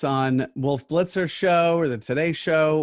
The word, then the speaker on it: Wolf Blitzer: - Wolf Blitzer, yeah.